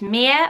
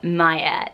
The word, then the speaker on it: Mia: pronounce this mirror or do you pronounce this Maya that is the big question because some people still spell it with the ia but like the sound of Maya instead and it's a word that means mine it which is absolutely beautiful meaning so it should be Mia spelled this way Maya really should be spared ma Y a and is a different name altogether but I do